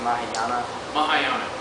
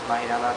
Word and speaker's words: Mahayana: So you said you practice how do you pronounce it? Mahayana. Mahayana Yeah.